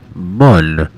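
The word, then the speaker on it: Mün: burn for the mun it is indeed pronounced mun because of the oml over the U please keep your trade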